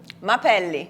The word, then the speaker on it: Mapelli: make me pronounce it last name? Mapelli. Mapelli.